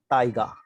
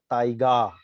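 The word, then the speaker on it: タイガー: हुआ है यहाँ पर, टाइगा। ओके, सो ये देखिए अगर हम जापानीज में देखें, जापानीज इसको कैसे प्रोनाउंस करेगा, टाइगा। ये जो बार लगा हुआ है which shows the long sound, टाइगा।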